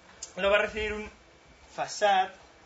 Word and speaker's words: façade: Lo va a recibir un façade, que es la pronunciación aparentemente correcta de esta palabra, porque es francesa, que quiere decir una fachada, en la que nos va a exponer la API de Java.